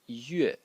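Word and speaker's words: 月: Let me write it separately, which today is pronounced yue, and it is sort of the moon in the sky.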